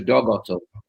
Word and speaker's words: Dag: I love it in in Norwegian you pronounce Dagotto as dog and so every dog has his day.